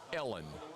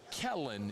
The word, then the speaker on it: Kellen: called the head coach Ellen in the introductory press conference. Ellen Moore. Ellen Moore. Not Kellen. She mispronounced the man's name. She called him Ellen.